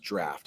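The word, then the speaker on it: draught: beer right there draft that's actually pronounced draft i think i pronounced that the wrong way the first time but one draft of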